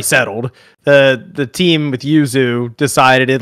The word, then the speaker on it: Yuzu: big deal the Nintendo emulation lawsuit with uh uzo I'm probably saying it wrong I always pronunciate everything in terms of Italian Uzu thank you um Yuzu Yuzu thank you again spawn what's The Good